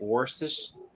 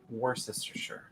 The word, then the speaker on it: Worcestershire: he's still around um i've never been able to pronounce that right worcestershi or worcestershire i don't remember i'm supposed to pronounce the first r war sister sure yeah whenever i mispronounce